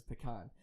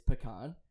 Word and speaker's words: pecan: And I think that way sounds silly because it's like pecan, like pea in a can.